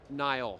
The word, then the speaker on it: Niall: Niall.